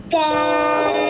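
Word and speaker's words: كاف: জিহ্বার গোড়া থেকে একটু আগে বাড়াবো বাড়িয়ে আমরা উচ্চারণ করব কাফ চার আলিফ টান হবে কাফ সবাই একসাথে জোরে জোরে বলেন তো কাফ মাশাল্লাহ এরপরে দেখেন এই অক্ষরটা লা চার আলিফ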